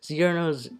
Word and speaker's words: Cirno: The original Japanese pronunciation is Cirno, so it makes more of a cheer sound than a chur sound.